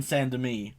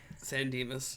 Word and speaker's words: San Dimas: and leaving him in santa me santa may or whatever it's called however you pronounce it san dimas yes wow i suck at